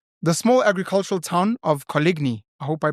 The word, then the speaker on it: Coligny: The small agricultural town of Coligny, I hope I pronounced that correctly. Colony. Yeah, it's a silent G.